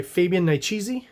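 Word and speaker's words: Fabian Nicieza: A Tale of Time and Vengeance, brought to you by Fabian Niciezi. I read once in Wizard that's how you're supposed to pronounce it, so I'm sticking by that.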